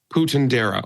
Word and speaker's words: Puentedura: How do you pronounce his name? Yeah, Puentedura.